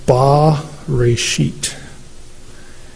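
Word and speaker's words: בָּרֵאשִׁית: like a capital T and it would be pronounced ba rashit.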